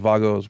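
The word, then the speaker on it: WAGO: you're American but it's I think they're pronounced vagos because they're German the kind of the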